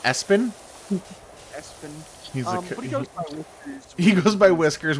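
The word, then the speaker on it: Espio: um it is ESPN it's pronounced as it's pronounced Espin as he goes by whiskers which is weird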